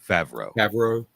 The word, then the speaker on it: Favreau: it's john uh how you say his name favreau yes i think you're absolutely right on that